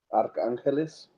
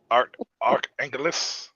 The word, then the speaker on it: Arcángeles: Arcángeles. Arcángeles.